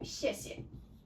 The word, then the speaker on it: 谢谢: For example, 谢谢. Okay, there is no tone there. You need to pronounce it softly, gently, and it is also very short tone.